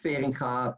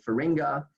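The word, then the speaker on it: Feringa: fading car motors so it's in Dutch it's pronounced fearing car but most English speakers say for Inga and and here we see the Finca motors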